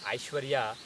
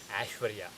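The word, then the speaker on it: ऐश्वर्य: Now, similarly, if you have the word Aishwarya, people call it Aishwarya, but it is Ashwarya.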